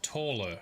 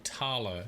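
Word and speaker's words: Thaler: need to meet someone called taller or tala depending on how you like to pronounce stuff he's a local fence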